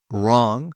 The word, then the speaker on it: wrong: Wrong. Silent W.